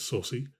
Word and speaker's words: Saucy: So the the people's car with um Sussy, which apparently is how you're supposed to say his name is Saucy.